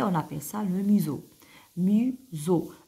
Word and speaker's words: museau: et le nez on appelle ça le Mau Muso e a à la fin se prononce e vous avez le dos vous avez